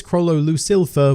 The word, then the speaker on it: Chrollo Lucilfer: me up on this his name is Chronos Lou silver with an L which I swear I do pronounce but the old gets lost in my accent oh just in the way I say things so if I ever do say Kroll elusive fur I promise I am recognising yell it just it gets